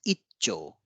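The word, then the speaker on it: 一兆: of double consonant here Ichi Cho ichicho is combined as icho you can see here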